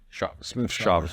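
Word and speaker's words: Smith-Shawver: I always say his last name wrong. AJ Smith Shaver. Shaver.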